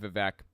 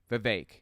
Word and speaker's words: Vivek: Good job, Vivek. I'm sorry. Viveik. His name is Viveik. I keep mispronouncing.